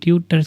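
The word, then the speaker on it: TuTr: टी यू टीआर एस की spelling है टटर्स को हम बोल सकते हैं।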